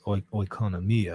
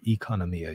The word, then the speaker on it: economia: um this is the concept known as economia or economia you can say pronounce it or spell it either way um and they're basing